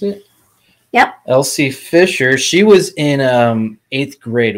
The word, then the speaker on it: Elsie Fisher: Sorry, is that how you pronounce it? Yep. Elsie Fisher.